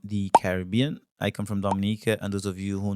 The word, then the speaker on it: Dominica: confuse it for the Dominican Republic but we are not we are Dominica there's a there's a slight difference in the pronunciation how we say Dominica um as you can